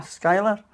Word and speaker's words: Schuyler: I've been to Schuyler, Virginia. Am I pronouncing that properly? Ah, Schuyler?